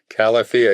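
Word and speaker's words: Califia: Calia. It's Cal like California. This is the That's the pneummonic.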